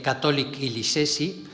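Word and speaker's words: Katolik Kilisesi: Esto es para que sepáis cómo se dice Catholic Kilisesi.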